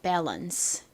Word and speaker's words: balance: balance. 발음 따라해보세요. balance, balance. 좋습니다. 보통 한국식으로는 이 단어를 바란스라고 하기도 하고 밸런스라고 하기도 하고 뭐 여러 가지로 발음을 하는데요. 미국식 영어 발음은 이렇게 balance라는 발음이 됩니다.